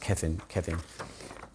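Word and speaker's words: Cefn: was next to it, C-E-F-N, it's pronounced Kevin.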